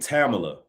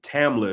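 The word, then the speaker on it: Tamla: Like let's take Tama or T, pardon me, Tamila is how you pronounce her name.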